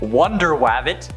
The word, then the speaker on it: Wonder Wabbit: The Crash was first introduced in Captain Carrot and His Amazing Zoo Crew number 14, which also features superheroes like Wonder Wabbit. That's actually how it's said.